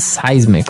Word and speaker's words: seismic: affect us okay so that's seismic activity it's pronounced seismic right seismic okay and uh because of all this